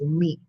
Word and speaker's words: mete: And that is the right pronunciation for METE, is meat.